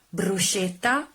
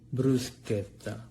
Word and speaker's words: bruschetta: next word brewski Oh not bruschetta not Bruce kepta the correct pronunciation is Bruce Bruce a day they scatter scatter bruschetta bruschetta bruschetta bruschetta the